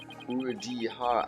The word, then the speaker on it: Urudihara: Urudihara.